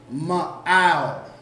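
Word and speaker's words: מעל: Above, and above is going to be pronounced ma'al.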